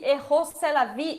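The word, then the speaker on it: Rrose Sélavy: A pronúncia do nome em francês parece Rose Tel Aviv, Eros é a vida, e também a Rosé la vie, que é tipo celebrar a vida.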